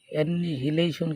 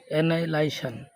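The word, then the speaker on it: annihilation: difference, difference মানে ভিন্নতা, difference রিজেম্বলেন্স, amazing, ordinary, লাই, এখানে কিন্তু এ ডাবল এন আছে, হ্যাঁ, অ্যানিহিলেশন কিন্তু না, উচ্চারণ হলো অ্যানাইলাইশন, অ্যানাইলাইশন মানে ধ্বংস, ক্রিয়েশন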